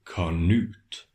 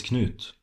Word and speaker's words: Knut: Harald, why do you say Canute? You know it's Knut.